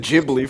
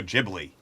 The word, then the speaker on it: Ghibli: That's the uh you pronounced it Gibli for years, dude. No, I said No, I said no, I I pronounced it Gibli for years. Apparently, it's I was told it's Studio Ghibli.